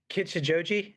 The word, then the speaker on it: Kichijoji: Well, sometime later, you planted Double O Cross Church in, I believe I'm gonna not pronounce this right, but Kichijoji, is that right? Yes, that's right. Kichijoji, Yes.